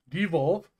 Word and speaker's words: De-evolve: Why do I always add an extra syllable? De-evolve is just a great spell.